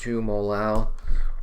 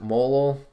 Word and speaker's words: molal: a weird word and some people just pronounce it molo which I don't know it sounds clunky I I emphasize the A and just pronounce it molal so that people know